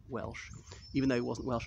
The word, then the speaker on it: Welch: It is spelled CH in the name of the regiment, Welch, not Welsh. I suppose he's supposed to pronounce it Welsh, even though he wasn't Welsh at all.